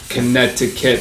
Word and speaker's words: Connecticut: the two c's so c can be silent as well because when you look at etcetera connecticut the c in the middle is not pronounced so these are these